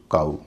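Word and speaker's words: cow: Snow window हम सब जानते हैं ओ डब्ल्यू का उच्चारण हमेशा ओ नहीं होता। जैसे सी ओ डब्ल्यू काऊ एन ओ डब्ल्यू नाऊ।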